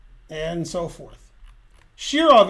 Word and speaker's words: Shirov: wrong and so forth shirov is correct they said shira okay now you will